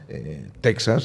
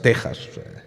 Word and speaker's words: Texas: ñ no la pronuncian texas es tejas para que la xj en américa como el méxico